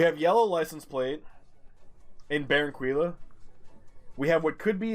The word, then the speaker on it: Barranquilla: It's pronounced Barranquilla.